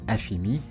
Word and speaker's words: AFM: L'obtention d'un numéro fiscal grec, appelé AFM, prononcé AFIMI, est également indispensable lorsque l'on décide de s'installer en Grèce.